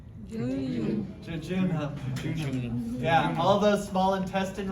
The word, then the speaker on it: jejunum: It rhymes with bajunum. Jejunum.